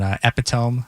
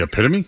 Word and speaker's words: epitome: Um, everybody gets tripped up on epiome. It's not epiome. It's spelled epiome, but it's not epiome. It's the epitome. It's epitome.